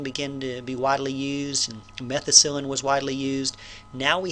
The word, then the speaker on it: methicillin: is methicillin so methicillin i keep saying methicillin but i think it's just methicillin methicillin is a stronger